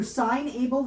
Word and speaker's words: SignAble: And I also realized I've been pronouncing your business name wrong, so it's SignAble, not signable.